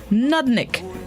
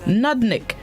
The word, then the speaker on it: nudnik: day this morning's word of the day is nudnik nadnik it's spelt nud nudnik it is a known which